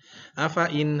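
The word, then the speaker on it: أفإين: Afain, hati-hati, fa-nya dibaca pendek. Jadi setiap ada kata afain, maka fa-nya walaupun tulisannya panjang, tapi dibacanya pendek.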